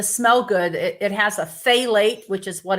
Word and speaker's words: phthalates: good it has a phthalate which is what it's pronounced as starts with the p but phthalates and if you have